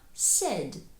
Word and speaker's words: said: Також зверніть увагу на те, як читається shad. Хоча в нас там є літера i, вона тут мовчить. І таким чином слово say сказати в нас перетворюється на said, сказав з вузенькою посмішкою. said.